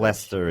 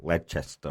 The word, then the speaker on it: Leicester: Leicester is really Leicester or something. Yeah. Yes. Worcestershire is Worcestershire. Yeah. They chop out syllables willy-nilly over there.